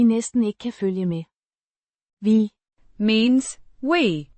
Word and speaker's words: vi: Vi har sådan en efterspørgsel efter produktet, at vi næsten ikke kan følge med. Vi means we, pronounced vi, similar to the English word v.